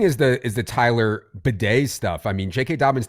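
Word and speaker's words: Badie: It was baddy in college and then in the NFL he went to bed.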